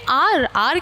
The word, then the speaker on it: hour: तो यहाँ पे आर की स्पेलिंग तो क्या होती है मैम?